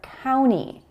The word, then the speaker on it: county: So in the word county, you'll often hear county and not county.